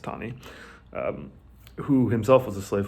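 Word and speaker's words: Taney: spelling his last name looks like tini it's actually pronounced tani who himself was a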